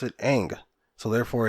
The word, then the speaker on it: Aang: cartoon if you will if they called him ong through the whole thing and they just said that's how they pronounce it okay there's no problem with thong but they pronounce it aang so therefore it's ang call him aang don't call him something that